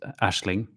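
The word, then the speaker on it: Aisling: out to the mrs aizling pronounced ashling here in ireland mrs ashling she has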